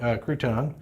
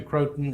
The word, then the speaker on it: Croton: to say it right so crouton to Croton is that's the right way to say it and the Croton is